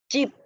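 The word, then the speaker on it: 집: Rumah itu bahasa Koreanya adalah chip, chip, chip, chip. Jadi J-nya itu kayak ada C-nya gitu lah. Emang hampir sama sih. Tulisannya gini, J, I, P.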